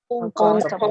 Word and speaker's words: uncountable: Uncountable. Countable. Incontable. Water. Uncountable. Ok, Incontable. acuérdese que la pronunciación es con O, es uncountable.